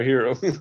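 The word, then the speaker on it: Herro: They had a hard time defending Hero and Hero, whatever you spell his name, superhero, guitar hero. Yeah, it's pronounced Hero, but at least broadcasters in USA.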